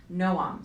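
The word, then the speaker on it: Noam: she asked slightly annoyed no um spelled NO a.m. but pronounced as two syllables it's nice what does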